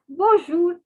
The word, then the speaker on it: bonjour: the nasal sound so it is not to be pronounced it is bonjour understood so now see